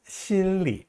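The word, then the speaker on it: 心里: 마음속이라고 할 때 心里 이렇게 발음합니다. 这里那里哪里家里 하는 식으로 리자 경성으로 약하게 발음해요.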